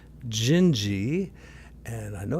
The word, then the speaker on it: Dindi: bit about this that sometimes those letters aren't pronounced the way they look. So anyway, Gingi is kind of the rough pronunciation of it.